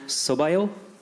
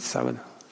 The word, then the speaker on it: sábado: And I just wanted to return the favor by saying, Boa sorte no sobaio. Did I say it correctly? Boa sorte, sábado.